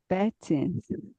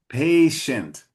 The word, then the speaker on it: patient: Mm, God is patient, Patient.